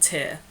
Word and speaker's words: Tyr: gods Odin Vida and tier which is spelled t yr and I will be